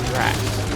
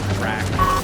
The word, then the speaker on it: Drac: Is his name Drac or Drax? Drac. Namor Drac.